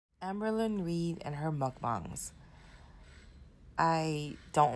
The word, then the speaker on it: mukbang: And I believe it's pronounced mukbang. So that's the first thing that kind of annoys me about how Amberlynn says it, as well as Trisha Paytas.